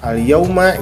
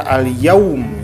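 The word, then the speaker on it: الْيَوْمَ: Nah, ini kita namakan dengan mad lain, artinya lunak atau lembut. Jadi dibacanya lunak atau lembut. Al-yaum. Nah, gitu ya. Mad itu kan artinya panjang, lain artinya lunak. Jadi dibaca panjang 2 harokat tetapi dengan lembut.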